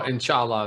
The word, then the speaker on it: inshallah: So inshallah is how it would pronounce together.